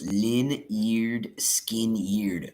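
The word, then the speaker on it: Lynyrd Skynyrd: Pronounced Lin-eared, skin-eared.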